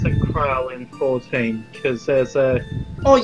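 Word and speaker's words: Krile: Okay, this is where Galuf flashbacks to where Krill starts beating up on him.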